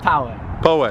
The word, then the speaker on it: Poway: Either Poway or Poway. Yeah, we don't know how to pronounce it. Poway? Poway, it's California? Funny. I grew up in Poway. Poway. I've never heard it. You've been pronouncing it wrong your whole life.